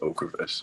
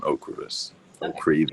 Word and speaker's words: Ocrevus: on for ms is ocrevus when straight on okras or creed is you know there's different ways that people pronounce it okay and now have